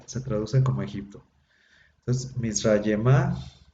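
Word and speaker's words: מִצְרַיְמָה: Entonces, Mizrayemá, la terminación aj al final, no se pronuncia la G final, se hace quiescente, nada más se pronuncia la pura A.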